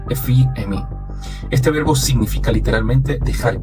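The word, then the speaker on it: ἀφίημι: La palabra usada para perdonar proviene del verbo griego que se pronuncia algo así como afií o efiemí.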